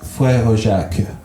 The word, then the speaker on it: Frère Jacques: Frère Jacques. So you said the "que" at the end. Yeah, I did it because it's slower.